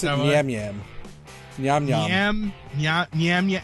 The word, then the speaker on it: Nyamyam: Nyam Nyam. Nyam Nyam. Nyam. It's Nyam, NYAMYAM.